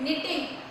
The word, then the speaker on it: knitting: K is silent, so we pronunciate knitting. Okay.